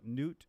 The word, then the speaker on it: Nhut: Vietnamese way will call it Nhut, but American will not be able to say it. So normally I will go by Nhut, like Nhut, something like that.